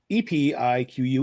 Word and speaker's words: Epiq: E pi q. Epiq. Yes, it's pronounced epic, not a peak or auk or anything like that.